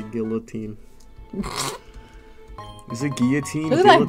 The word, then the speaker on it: guillotine: It's not Galantine. That's completely what it was, it's my bad. It's Guillotine. Is guillotine? I think that's Galantine. How you say it. Oh my god, oh, I remember know, it now. It is guillotine.